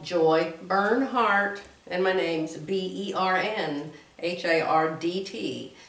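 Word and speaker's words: Bernhardt: is just called joy burn heart and my name's b-e-r-n-h-a-r-d-t just think of heartburn and turn it around but don't spell it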